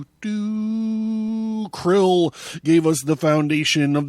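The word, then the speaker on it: Crill: in captivity krill krill shrill shrill pronounced c-r-i-l-l krill krill must exterminate the dalek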